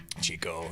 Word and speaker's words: Chico: And the thing that's kind of cool between what I like about those two parallels is Ken started up in Chico. Chico, yeah.